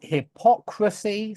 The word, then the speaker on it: hypocrisy: It's hypocrites, and then it's hypocrisy. So it's on the o, and then it's hypocritical.